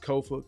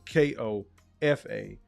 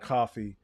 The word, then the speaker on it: Kofa: Once again, I've been your humble host, Kofa, K-O-F-A, not coffee, not, not Kofi, or any variation thereof. Kofa rhymes with sofa, easy to say, easy to spell.